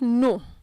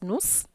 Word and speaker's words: nos: commonly pronounced okay so don't pronounce no as nos or vu as vuz or le as less take note of that